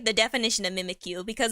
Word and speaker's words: Mimikyu: Mimikyu. That's how you pronounce it.